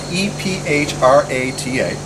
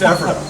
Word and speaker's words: Ephrata: So, the name of this town, EPHRATA.